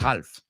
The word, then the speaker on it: half: La L no la pronunciamos, no es half.